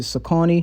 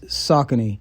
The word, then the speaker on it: Saucony: to go to the saucony jazz here in the us we usually pronounce it sakani but i've learned the correct pronunciation is saucony another super old runner